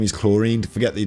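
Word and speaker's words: Clorinde: okay her name is chlorine forget the D it's you don't the D is silent it's chlorine what's up chlorine Electro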